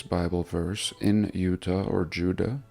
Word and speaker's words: Judah: verse in Utah or Judah of course there was no J so it would have been pronounced more like a y and sure enough we